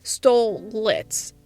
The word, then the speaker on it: Stolitz: boss or more specifically stole lits aka the show's main pairing of Stoess and Blitz hence the name the last toe is silent and we're mostly going